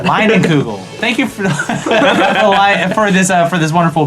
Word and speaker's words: Leinenkugel: Leinenkugel. Leinenkugel.